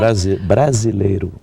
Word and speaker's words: Brasileiro: And now it's this And now you're Brasileiro. Did I pronounce that right? Brasileiro. Brasileiro. Perfect.